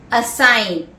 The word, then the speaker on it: assign: Assign, A-S-S-I-G-N, where the G is silent.